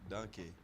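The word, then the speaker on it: danke: Donkey. Donkey? Donkey. Donka? Donkey. Donka. That's Donka.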